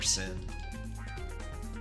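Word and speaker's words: Synn: S-Y-N-N, you can just spell it like that. Let's call her Sin.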